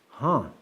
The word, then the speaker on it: han: The female word for hello or hi is huh. Huh. H A N. Huh.